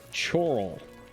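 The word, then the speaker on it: Chorrol: Thieves Guild up last night spectacular stupendous those pronounced Coral that's choral you see there's like five hes in it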